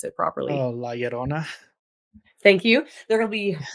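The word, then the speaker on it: Llorona: pronounce how do you pronounce love Lona you pronounce it properly Lerona thank you there will be her there's G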